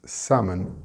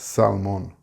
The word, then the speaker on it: salmon: The word is salmon and the L is silent. It's not salmon, and the stress is on the sam.